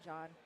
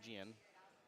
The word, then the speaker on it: John: So pronounce John. So not Gian. John.